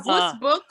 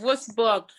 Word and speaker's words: Würzburg: Uh, Würzburg. yes. Wurzburg. Würzburg.